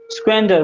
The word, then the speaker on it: squander: आर बहुत small, actually are का pronunciation काफी कम ही होता है, तुम अगर चाहो तो स्क्वेंडर भी बोल सकते हो, स्क्वेंडर, लेकिन अगर तुम